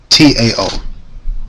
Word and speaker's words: Tao: That's t a t a o tao or dao I think is how you pronounce it.